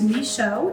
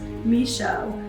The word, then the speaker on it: Michaud: my last name is misho it's spelled like this but it's pronounced like this misho it's a silent d i have been a